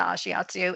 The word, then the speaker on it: ashiatsu: because you offer ashiatsu. Did I Yes, pronounce that you correctly?